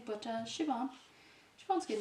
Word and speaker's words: Siobhan: Siobhan, I think a lot of Americans say, but Siobhan.